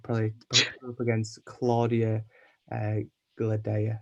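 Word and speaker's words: Cláudia Gadelha: So I'd probably put her up against Claudia Gladea. That's how you say her name. You are correct.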